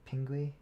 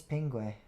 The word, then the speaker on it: Pingu: sounds familiar duck tales i think it's pingue ping ping pingu probably pingu pingu the penguin i feel like that's how you pronounce it but he never